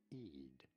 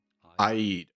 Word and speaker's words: Eid: is generally said as Eid Eid although in Arabic this is normally pronounced as Aid okay good enough that